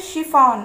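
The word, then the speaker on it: chef: यहाँ पर भी देखिए सी एच है लेकिन इसका उच्चारण हो रहा है श.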